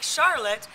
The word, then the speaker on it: Charlotte: Looks like Charlotte, but they pronounce it Charlotte.